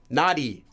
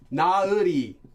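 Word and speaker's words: 나리: And a lot of times you'll hear this pronounced as nauri, nauri, nauri. But actually, it's supposed to just be nari.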